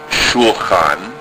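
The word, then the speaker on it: שולחן: The first letter is shu. The lamed has a schwah under it, indicating a syllable stop. So the sound is shul, cha, na. Shulchan.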